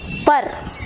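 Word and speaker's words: पर: ஸோ ப இர் அப்படின்னு உச்சரிக்கணும். பர்.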